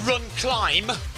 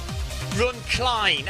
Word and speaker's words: RunCline: It's not called Run Climb. Run Cline, as in incline.